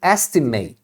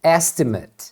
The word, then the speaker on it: estimate: exemplo o verbo estimar eu falo to estimate to estimate agora uma estimativa você escreve da mesma forma é a mesma palavra só que com outra função então aí você vai pronunciar estimate estimate então eu poderia dizer